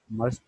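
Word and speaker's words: mustn't: मस्ट नॉट में से हम टी और एन को साइलेंट कर देते हैं और हम इसे पढ़ते हैं कॉन्ट्रैक्ट करने के बाद मसंट, मसंट, इस तरह से।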